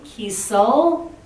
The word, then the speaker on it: Kiesel: Then I have Holly Kiesel, rhymes with diesel, she reminded me.